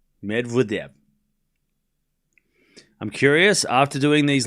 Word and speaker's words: Medvedev: We don't have to pronounce worry about pronouncing names. It's medev. We all know that right chat get it right. Medvidev. Medvidev.